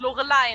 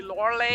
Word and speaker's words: Lorelei: Oh yeah, there are like different ways to pronounce it. I think the English pronunciation would be Lorelei. Lorelei, and yeah.